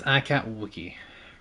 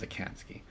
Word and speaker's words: Akatsuki: that's a cat that is icat Wiki or I can't ski I see it's the correct pronunciation is Akatsuki we can't get the